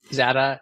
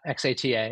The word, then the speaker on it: Xata: So it's like data, but there are two pronunciations, Xata or Xata, depending Xata on where you live in the world.